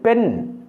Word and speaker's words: பெண்: ஒரு தடவை கூட சொல்லுகின்றேன் ஒரு பெண் பெண் அல்ல பெண் மூன்று சுழி நா அதை உச்சரிக்கக்கூடிய நேரத்தில் நா என்று உச்சரிக்க வேண்டும் அதேபோல எழுதும்போதும் மூன்று